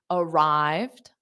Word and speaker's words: arrived: Now, the ED doesn't add an extra syllable in this case. So it's arrived. So it's two sounds.